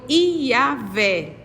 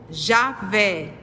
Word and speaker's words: Iavé: qualificar como consenso que a pronúncia do tetragrama foi Iavé, ou Javé, e que Jeová é apenas uma forma híbrida, derivada da combinação das letras latinas JH, VH, com as vogais de Adonai, entre os muito poucos